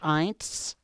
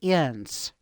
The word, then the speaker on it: Ihns: It's IHNS, but in Germany it's pronounced Eins. And when they moved over from Germany to here, they pronounce it Ins. The H is silent, so it's IHNS, but that's a German name. Obviously, it's definitely German.